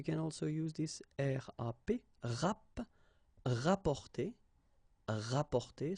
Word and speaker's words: rapporter: You can also use this RAP, rapporter, rapporter. So same thing here, you don't pronounce the double P.